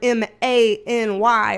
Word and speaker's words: many: In the South, the word M-I-N-I and the word M-A-N-Y are pronounced the same, many.